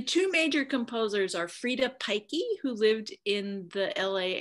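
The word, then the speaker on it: Peycke: The two major composers are Frida Pikey, who lived in the LA area, and she wrote about 340 of these, publishing about a fourth of them.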